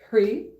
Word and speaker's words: Hrih: So Om Kurukulle Hrih, so that H over there is not pronounced, it's just Hrih Svaha.